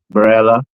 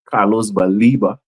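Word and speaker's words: Carlos Baleba: You have Carlos Barella, Baliba, sorry, Carlos Baliba. I'm gonna pronounce the guy's name properly because hopefully he'll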